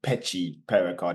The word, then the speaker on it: Mpetshi Perricard: it clear right here his name is Giovani py par card it's not py the m is silent oh yeah yeah a